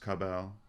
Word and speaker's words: Kabbalah: It's pronounced Kabal.